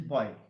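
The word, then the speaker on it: buoy: On a boy b u o the pronunciation is boy.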